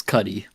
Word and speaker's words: Cudi: album, which is Cooty Montage. It's Cuddy. Really? Yeah, that's how you pronounce it. It's Cuddy, huh?